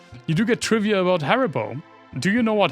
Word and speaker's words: Haribo: You do get trivia about Haribo. Do you know what Haribo, or let's pronounce it like real German, as you would, since it's a German company, Haribo, where the name comes from?